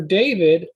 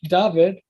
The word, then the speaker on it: David: Like for David, originally it was Dawid or Duid, one of those, Dawid or Duid. But over time, you see David. But guess what? In Greek, it's sometimes it's spelled David in Greek.